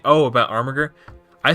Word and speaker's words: Armiger: Armiger. Armiger. Armiger.